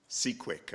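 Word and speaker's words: CQuIC: Quantum information and control cqu uh rhymes with Bisquick if you didn't know um he received his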